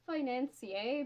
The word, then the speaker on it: financier: thing I think it's financier because I think it's a french cake for some reason like